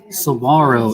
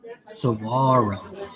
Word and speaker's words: saguaro: shop yes and actually saguaro it's spanish so the g the g is silent saguaro oh it